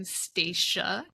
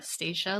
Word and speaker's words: Stacia: I'm Staca Staca like Anna. Staca, no Anna.